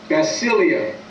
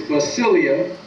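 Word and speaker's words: basileia: Now, the kingdom is a Greek word, and that Greek word is spelled B-A-S-I-L-E-I-A, basilia. So the kingdom, or kingdom rather, is a Greek word that is basilia, and it means the realm in which a sovereign king rules.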